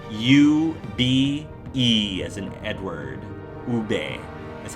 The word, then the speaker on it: ube: U-B-E as in Edward. Ube is how it's pronounced.